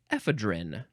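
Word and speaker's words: ephedrine: e and the uh the British say epidrin edrin noun from 1889 uh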